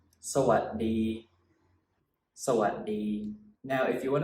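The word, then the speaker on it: สวัสดี: So a lot of people pronounce this word sawadee, sawadee khap, sawadee khap, which is fine, that's also fine. But if you want to say the word, if you want to sound more Thai, then it must be pronounced a little bit differently. When you say sawadee, at the what part of the word, you actually stop the sound and you put your tongue on the roof of your mouth like this.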